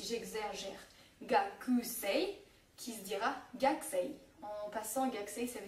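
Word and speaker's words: gakusei: k t P S le u ne se prononcera quasiment pas comme dans par exemple si j'exaggère gakus qui se dira gxi en passant gxi ça veut dire étudiant et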